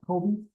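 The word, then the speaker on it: COBE: Okay, and then like Kobe Bryant, it's spelled differently, but Kobe.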